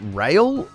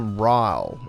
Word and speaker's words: Ryle: Is it Rail or Ryle? It's Ryle, right?